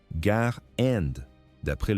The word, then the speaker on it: Garand: Un débat persiste encore aujourd'hui sur la prononciation du nom. On devrait dire gare Andaprès le nom de son inventeur. Pourtant, une grande partie du public s'est mise à dire le grand. Nous utiliserons la prononciation originale pour respecter l'histoire.